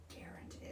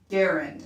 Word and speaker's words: Garand: And Garand, I think is how it's pronounced, according to this.